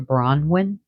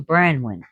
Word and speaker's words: Branwen: his child can be in the arms of Branwen. Branwen She's usually called Branwen. There's one word for her. Was it by mistake where they call her Bronwyn? But Bronwyn has a name meaning too. So Branwen, meaning white raven.